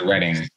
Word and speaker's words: Reading: My town was Reading, but it spelled like reading, and it was confusing.